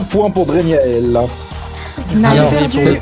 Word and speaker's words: Draignaell: fait 1 point pour Dregnael. Alors, Et pour c'est- le premier point de c'est- l'émission. C'est peut-être le moment où on dit que ça se prononce Dregnael et pas Dregnael.